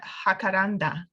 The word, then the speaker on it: jacaranda: gusto mucho gusto and we skipped the hakaranda ah yes yes I say Jacaranda Jacaranda okay um which is